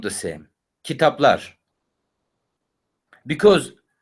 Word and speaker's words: kitaplar: If you pronounce this letter properly, which is A, kitaplar. When you try to say kitapler, then of course, even your mouth and your muscles on your face struggling.